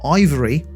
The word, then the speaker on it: IVRY: However, VR accessory maker Ivory, and that's spelled IVRY, noted on Twitter that an adapter of some sort will be needed to connect the PSVR 2 to PC.